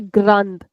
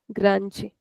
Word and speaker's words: grande: So we don't say grand like uh sorry we don't say grand. It's not a raw it's a r grand or grande. So in European we'll say grand. In Brazilian we'll say grande. Next let's see pronto.